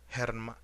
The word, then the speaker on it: hermano: H is always silent. example hermanoer deer sometimes though um